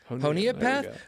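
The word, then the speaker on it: Honea Path: you say well yeah according to the officer it's honia honia paath but admittedly when I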